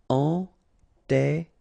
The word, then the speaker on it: enterré: Enterré, okay, remember, N together, nasal, en, and then you get this double R here, and it will open the sound of the E, okay? Enterré, enterré.